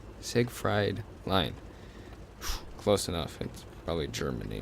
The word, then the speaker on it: Siegfried: you see a fried siegfried line I believe that's the correct way to pronounce it say sig fried line close enough probably